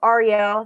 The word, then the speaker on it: Arielle: for tout wars ian and arielle cohen um arielle that's how you pronounce his name they tied for first and